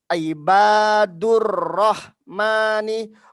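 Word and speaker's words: عباد الرحمن: ada ro di sini, dia dibacanya ibadur rahmani, bukan ibadu ar-rahmani, tidak terputus ketika nanti ketika ujian di gontor.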